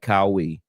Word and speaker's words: Qawi: But Dwight Cowie is and it's spelled Qawi is his last name.